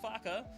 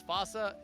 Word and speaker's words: faca: We both thought last week it was FAA. No, it is actually Faka.